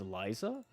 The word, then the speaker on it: Lisa: I think another thing too, someone in my comment section was asking, why do I mispronounce Lisa's name? Because her actual name in global is Liza.